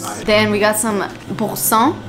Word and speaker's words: Boursin: You overpronunciate the R, like you overdo it.